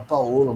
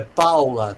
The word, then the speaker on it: Paolo: o nomes em italiano fala em italiano Paolo o brasileiro resolve que com ó fala Paola mas não é assim não nunca viu é Paula tá em italiano de homicídio involuntário e